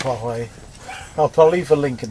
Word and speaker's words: Huawei: I think it's Huawei. I think it's pronounced Yahweh, actually. Do you?